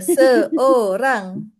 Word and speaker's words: seorang: Remember, seorang. Seorang. Ya, O there, O in the middle.